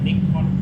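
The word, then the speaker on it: Nikon: ครับ ยี่ห้อ นี้ นะ อ่าน ว่า อะไร ไม่ นิคอน อ่าน ว่า อะไร นะ นิคอน นิคอน นะ ครับ เรียน น้อย ครับ ประมาณ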